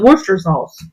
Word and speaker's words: Worcestershire sauce: You pronounce it Worcester sauce.